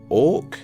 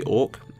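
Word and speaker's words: Auk: You play as a girl called, I think it's Orc. It's spelled A-U-K. Right. So it's probably Orc.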